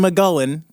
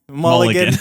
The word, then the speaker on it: Mulligan: We used one McGullen. Not McGullen. What is it? How do you say Mulligan? Mulligan.